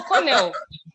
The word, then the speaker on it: Cornell: Colonel. No, Cornell.